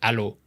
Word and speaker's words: allo: Honestly, hello is really close to allo, like A-L-L-O.